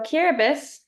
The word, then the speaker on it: Kiribati: So Kiribati, where the TI is pronounced like an S, is a nation of 33 atolls across 3 island chains in the sub-region of Micronesia.